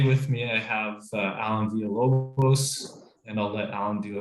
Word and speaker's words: Villalobos: And then today with me, I have Alan Villalobos, and I'll let Alan do a quick introduction to himself as well.